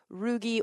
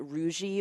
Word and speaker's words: rugae: and the plural is rugi or rug you'll sometimes even hear people pronounce it roui or rou um these are all American pronunciations by the way I I feel like